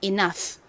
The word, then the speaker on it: enough: 끝에 gh 왔죠이 경우 gh n 보통 무슨 소리가 나죠 F 소리 프 소리가납니다 읽어 보면 가장 앞에 2는 에어이 소리 중에 e 소리가 나고요는 니은 소리가 나죠 그리고 이중모 유는 무슨 무슨 무슨 소리가 나나요 대표적으로는 아우 소리 그리고 또 많이 쓰이는 소리가 어 소리이고 가끔씩 우 소리가 나기도 합니다 여기서는 어 소리로 쓰였어요 그래서 너가 됐고 가장 끝에 gh 소리가 나니까 연결하면 enough 됩니다 enough의